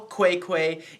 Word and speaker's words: Qai: Yeah, but so she's at the Real Quay Instagram. Or just at Real Quay, and Quay is spelled Qai.